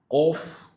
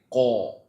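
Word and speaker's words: ق: See, when you pronounce a heavy letter, you should not circle your mouth. Cough. Don't say. Instead, open up your mouth. Cough. Cough. Every heavy letter whenever you pronounce them, pronounce them with an open mouth. Full mouth. Cough. But not with a round mouth.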